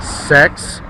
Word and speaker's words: CeX: i work they ask is pronounced cex is it kex is it sex and yes it is that one actually i work for